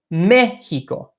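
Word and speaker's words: México: top of a letter when you see an accent mark that particular syllable is emphasized so in Mexico it's Mikiko I'll I'll really stress it so you can hear it mehico' Mexico it's not Mexico it's not Mexico but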